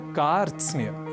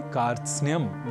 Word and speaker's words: कार्त्स्न्य: इसलिए इस शब्द का उच्चारण हम सर्वथा शुद्ध करें, इसका हमें विशेष प्रयास करना है और इसे कारत सनय, कारत स्नेय आदि न कहकर हमें कहना है कार्त्स्न्य।